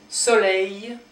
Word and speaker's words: soleil: Soleil, soleil. So you don't pronounce the L, but rather you make this sound longer, so it's a double E kind of.